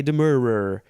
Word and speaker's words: demurrer: fun word to say to file a demurrer with the rural juror number three to make